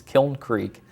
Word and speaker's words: Kiln Creek: word kiln, whatever yeah we've heard it several different ways but it's it's Kiln Creek just like if you say kill and then throw a little in on the end of it, Kiln Creek Golf Club.